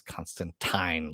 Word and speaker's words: Constantine: way it's always been pronounced as constantine like wine i'm like so you